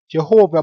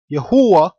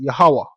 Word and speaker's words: Jehovah: So basically the way you pronounce Jehovah in the Latin is not actually Jehovah, but Yehowah, which properly pronounced in the Hebrew is Yahawah.